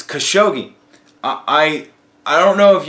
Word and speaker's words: Khashoggi: idiot you are so I got the guys name wrong it's Khashoggi I I don't know